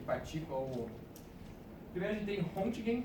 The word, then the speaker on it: Röntgen: Primeiro a gente tem Röntgen, que é a pronúncia do alemão, que ele fazia trabalhos com o tubo de Crookes, é isso?